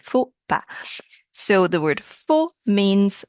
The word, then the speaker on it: faux pas: The word faux, actually the original pronunciation, not faux, that's how we say in English, but in French it would be faux pas.